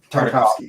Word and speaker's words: Tartakovsky: And Cartoon Network was releasing, I can never pronounce this guy's name, but Tartakovsky. I think Tartakovsky. Tartakovsky.